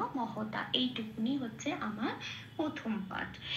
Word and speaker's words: মহতা: আসি পরের শব্দে মহতা। এটাও তাই, ম আর হ পূর্ণরূপ উচ্চারিত হচ্ছে, ম কে ম বলে, হ কে হ বলে বলতে হবে, মহতা।